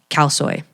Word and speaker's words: khao soi: things I've ever eaten in my entire life, khao soi.